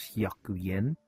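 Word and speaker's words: 百円: So, 100 yen, you pronounce it as hyaku en.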